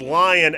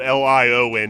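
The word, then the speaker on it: Lyon: dust first of all that's lion l-y-o-n not liowin not like the lion lion like a lion the soccer team oh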